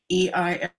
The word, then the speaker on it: Eisert: And Eisert is spelled the way Germans do. The first letter is fake. Eisert.